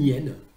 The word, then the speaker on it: hyène: les hyènes, oui, normalement, le H d'hyène est un H muet. Et donc, on doit dire une hyène et l'hyène.